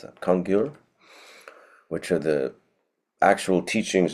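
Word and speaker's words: Kangyur: typically referring to the congur, how do you pronounce that? Kongur, which are the actual teachings of the Buddha.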